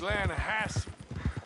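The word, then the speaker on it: Lannahechee: The Lanahatchee. It runs right near here. Yeah, but it's pronounced Lanahatchee.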